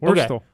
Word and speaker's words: Wurstle: Like the worst L. Wurstle? Like L. The Is worst. is that how you pronounce it? Yeah, Wurstle.